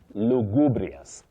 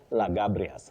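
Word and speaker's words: lugubrious: You say lubrias. Lubrias. That is an adjective that means sad and serious. Like alubrias. Look. Alubrious face. Sad and serious. Lubrias. Not lagabrias.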